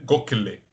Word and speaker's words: Gokhale: Eu descobri hoje que a pronúncia certa é Gokhale, né?